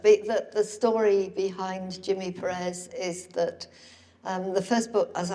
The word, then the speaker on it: Perez: Okay, so Jimmy Perez, I got to say it right, Jimmy Perez, is a swarthy character in the books and in the TV show.